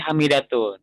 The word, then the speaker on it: Hamidatun: Tapi kalau Hamidatun itu harus pakai Hamidatun.